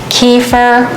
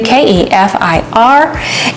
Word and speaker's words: kefir: to do right here um this is keur kefir there's several different ways to pronounce it whatever you want to do k e f i r and I had a friend bring me I